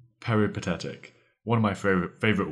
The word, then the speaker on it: peripatetic: also probably quite confused our third word is peretic peretic one of my fav favorite words it is spelled p e r i p a t